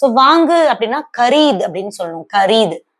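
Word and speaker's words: खरीदा: ஸோ இதை நம்ம எப்படி ப்ரொனவுன்ஸ் பண்ணணும் அப்படின்னா, ஸோ வாங்கு அப்படின்னா கரீத் அப்படின்னு சொல்லணும், கரீத்.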